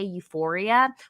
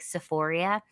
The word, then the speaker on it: Euphoria: are the funny thing is that they can't even pronounce it right. They meant to say Euphoria, which they Oh, definitely should they said not be that.